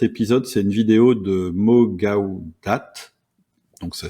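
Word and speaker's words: Mo Gawdat: faire ce cet épisode c'est une vidéo de mogaudat donc ça s'écrit Mo o plus loin G a W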